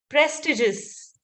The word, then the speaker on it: prestigious: So it is prestigious. Prestigious. There is no I. The I is silent.